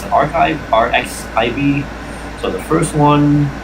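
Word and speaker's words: arXiv: Speaking of sources earlier up here, um, so there's a R RX R I'm trying to pronounce it archive RX.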